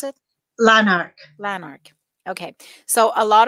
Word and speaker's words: Lanark: was driving to leonard leonard how do you pronounce it lanark lanark okay so a lot of uh what